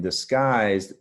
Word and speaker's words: disguise: gusts down and disgusted the difference is in disguise that U is silent you hear that I sound and discussed here the